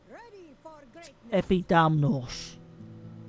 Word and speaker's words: Epidamnos: Can you pronounce it? Epidamnos? Yeah, that's it. Epidamnos.